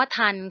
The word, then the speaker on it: ทัณฑ์: ทอ มัน โทร กรัณย์ นะ ฮะ อ่าน ว่า ทัน เหมือน กฎ หมาย ถึง โทษ หรือ อะ โทษ